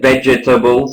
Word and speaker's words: vegetables: up on yeah yeah vegetables of course he didn't he didn't uh he didn't pronounce correctly vegetables there was an extra syllable in there um he said uh